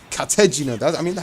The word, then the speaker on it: Katejina: Katejina. It's Katejina. That's how they say it in the English sub, since there's really no dub.